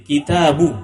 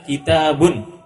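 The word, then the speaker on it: كِتَابُ: alif lam itu saja sehingga membacanya akitabu Muhammadin kitabu tidak boleh dibaca kitabun tidak tidak pula bisa dibaca alkitabu Muhammadin Ini kata berikutnya yang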